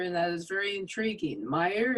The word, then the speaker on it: Maier: Maier, is that how you pronounce his name? Yeah, that's how you pronounce his name, and I should say it's a very German name.